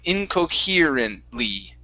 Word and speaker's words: incoherently: lee at the end so instead of incoherent it's here so add an ear sound incoherently incoherent okay so you're almost there you're saying inco care okay so right here you're saying hair right there we want e inco he here here in in incoherent